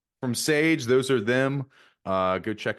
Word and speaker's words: $EJ: Once again, Sage spelled $EJ, pronounced Sage.